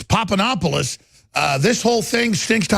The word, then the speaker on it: Papadopoulos: Was I pronouncing it right earlier? Yeah, Papadopoulos. Papadopoulos.